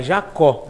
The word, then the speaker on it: Jacob: É Jacob, então? Não, é Jacó. Jacó. Com B mudo. Não falo B.